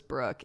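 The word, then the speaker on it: broek: cat named brook b-r-o-e-k pronounced as brook it means pants and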